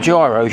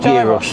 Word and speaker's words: gyros: It's spelt gyros, yeah, but it's called gyros.